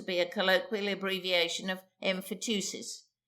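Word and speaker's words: emphyteusis: a colloquial abbreviation of emphatusis usually pronounced emphatsis.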